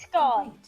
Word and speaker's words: scone: It's pronounced scone. It's scone. Well, in America, it's a scone. It's also a scone in most of England, just not all of it. And not in Scotland.